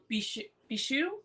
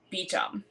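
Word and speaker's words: Beauchamp: So, one of the other characters is named, excuse me, Percival Bichou, which I think is the French pronunciation of Claire's maiden name, Beecham. It's actually French.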